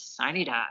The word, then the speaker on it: sine die: the term by our Sine Die Day, which I recognize I'm pronouncing that incorrectly, but that's how we say it in West Virginia, is Sine Die.